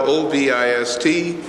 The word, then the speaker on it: Ovist: It's spelled O-V-I-S-T. It's pronounced A-H-V-I-S-T.